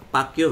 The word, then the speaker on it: PACQ: tawag sa kanya Paco ibig sabihin ng Paco pacq o pacq p Pastor Apollo C Kiboy pero pronounce as Paco O yon kayaang lelan